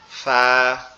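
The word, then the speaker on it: فاء: ফাটা উচ্চারণ হবে আমাদের উপরের দুই দাঁত নিচের ঠোঁটের পেটের সঙ্গে লাগবে, লেগে উচ্চারিত হবে নরম আওয়াজে ফা, ফা, এরকম ভাবে ফা, ফা, এরকম ভাবে উচ্চারিত হবে ফাটা।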